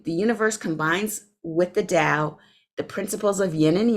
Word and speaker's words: Dao: the Chinese Dell the Chinese call it the Dao and some people pronounce it tell that's fine the Dao is